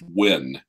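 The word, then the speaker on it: Nguyen: City surprisingly enough and everyone with that names insists it's pronounced wind really you gotta ask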